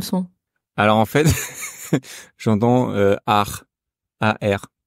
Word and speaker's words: 二: R. C'est le bizarre. moment de se transformer en pirate. R. Pourquoi ça fait pirate? Tu verras. C'est le bruit que font les pirates.